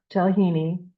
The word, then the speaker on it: tiłhini: So you'll see high Y, you'll see like a L in tiłhini that's got a bar in it this way.